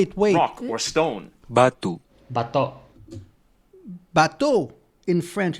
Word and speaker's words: bato: Bateau in French, it's a boat. But it's not, it's Bateau, but the way that you just pronounce it in Tagalog, bateau, it's pronounced like a boat in French.